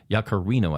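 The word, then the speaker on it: Yaccarino: But, oddly enough, uh, ex CEO Linda Yakarino, Yakarino, I think it's pronounced, resigned this morning.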